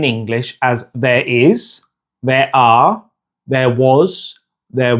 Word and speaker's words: hay: Now, remember that the H isn't pronounced in Spanish.